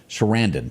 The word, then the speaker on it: Sarandon: today, Susan, how do you pronounce her last name? Sarandon.